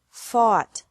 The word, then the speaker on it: fought: Fight, fought, fought. Seek, sought, sought. Teach, taught, taught. Think, thought, thought. Remember that the G is silent in these verbs.